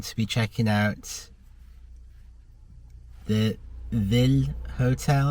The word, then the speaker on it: Villé: I'm going to be checking out the Villé Hotel, I think it may be pronounced VILLE Hotel in Manchester.